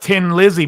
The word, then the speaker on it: Thin Lizzy: in in Ireland and they say tin to be thin so they were like we'll call it we'll call it Tin Lizzy but spell it with an H but it was still